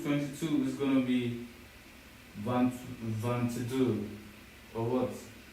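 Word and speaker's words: vingt-deux: 22 is probably going to be van vans. What's 22? You're absolutely right. For 22, it's van and it's spelled v i n g t d e u x.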